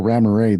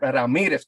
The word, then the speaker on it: Ramirez: It's actually Oscar Ramirez. The Z is silent. I'm not Mexican. I'm French, just so you guys know. What the hell? No, hey, you're here. It's Oscar Ramirez. It's Oscar. Oscar Ramirez.